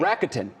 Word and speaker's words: Rakuten: Rakuten. I've like, been mispronouncing this whole time.